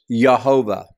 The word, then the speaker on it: Jehovah: would refer to as Jehovah or Jehovah. The J is typically pronounced with a H sound.